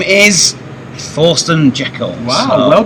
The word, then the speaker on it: Thorsten Jekel: With a special guest, and his name is Thorsten Jekel. Wow, so, well pronounced.